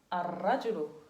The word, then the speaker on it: الرجل: Ar-rajulu. Alors, on écrit quoi? Shadda. Ahsantum. On met un shadda. Ar-rajulu. On écrit al, mais on ne prononce pas l'em. On prononce directement comme ça.